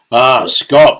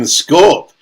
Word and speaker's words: scaup: Scop. I call them Scorp, but it's Scop is pronounced correct pronunciation, is it? Wherever, it depends on where you're from.